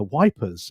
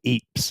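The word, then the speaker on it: Ypres: I think but I'm off to uh wipers in in March or Apes as it's pronounced so my Belgium friends will probably criticize me for calling it wipers because the the British troops in the first world war called it wipers uh like plug street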